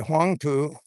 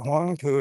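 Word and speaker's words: Huangpu: I I know I said it wrong. It's actually the Hangpoo. And I don't know what I called it before, but Hong Fu is correct.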